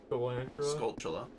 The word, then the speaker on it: Skulltula: school in the name how would you pronounce that not school Ola Skulltula hey guys stupid I'm